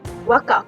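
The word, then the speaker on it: Waqf: Wakaf, W-A-Q-F, pronounced Wakaf, is an Arabic-derived word to mean endowment.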